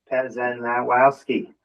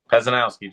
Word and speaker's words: Pezanowski: practice your last name Pazenowski. Pezanowski just like it uh is spelled sounds okay I'll get there.